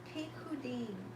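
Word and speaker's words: פִּקּוּדִים: This is another word for an aspect of the Torah, Hebrew word 6490, which is pronounced pikhudim. Pikhudim. Try that one.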